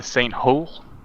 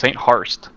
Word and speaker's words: St. Harst: We're all currently in St. Hol. I can't pronounce my own thing. It's St. Harst.